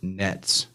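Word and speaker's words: נץ: And the Hebrew word for hawk is pronounced nets, but it's like Nayts, but they say it like nets.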